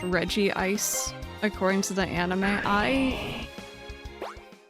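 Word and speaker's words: Regice: Officially, it's pronounced regist. That's That's how I would read it, but Lucario movie pronounced it reggi ice but later media use re ice Ice.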